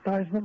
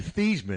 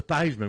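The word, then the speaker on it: Theismann: Remember Thyman rhymes with Heisman. Yeah, but remember it used to be Theman. And then he changed how it was pronounced to Thyman when he was at Notre Dame.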